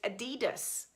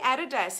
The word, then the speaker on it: Adidas: Americans terminó 'test adidas we say added s in Australia so aren't interested in your feedback so number one is added us number two is adidas put down how you pronounce it is it one added s or do you pronounce it two Adidas and are being treated